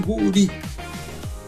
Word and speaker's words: Guri: E eles pronunciam mais ou menos assim, guri.